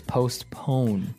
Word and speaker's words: postpone: Now, it's interesting because you have a P in between there, so it's postpone. Postpone. Yeah, it's an interesting word to pronounce.